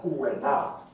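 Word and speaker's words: Ouvernard: But the Kalinago people pronounced it as Ouenao.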